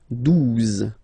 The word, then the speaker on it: douze: 11, okay, 12, 12, O, U, the two together will give you the sound OO. Okay, and then z, douze, douze, all right?